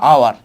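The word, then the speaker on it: hour: ঠিক আছে, বা তারপর তোমার বললাম এই যে দেখো আওয়ার, তার মানে উচ্চারণটা আসলে কে হচ্ছে?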